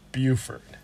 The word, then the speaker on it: Beaufort: South Carolina it's pronounced bufort correct yeah same spelling same spelling different pronunciation from what we hear